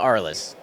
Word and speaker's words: Arles: whole line so I think it's pronounced ARL it's a town in France that I don't quite know how to say it but a lot of people call it aress all right so if